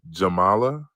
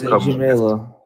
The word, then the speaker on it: Jamila: Is Jamala? It's Jamila. Jamala? Like, so it's not like Kamala.